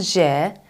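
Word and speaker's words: ژ: means tiny or teensy-weensy it's called je J and it's pronounced like television examples would include jealous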